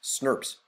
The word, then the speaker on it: snRNPs: these proteins here you look at snrnps is pronounced Smurf's that's how we say it and it's my